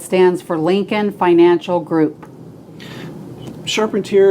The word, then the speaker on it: Charpentier: for lincoln financial group sharpened here is belgian french french you should use that instead it is way more sexy way more sexy and